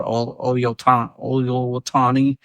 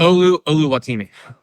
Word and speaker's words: Oluwatimi: Going down the line, Seahawks backup center that filled in for Oluwatani during the Packers. Oluwatimi. Oluwatani. I got you. Fact check the names, name pronunciation.